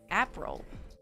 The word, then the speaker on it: April: Pronounce like the month April.